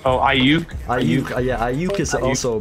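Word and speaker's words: Aiyuk: Oh, Ayuk.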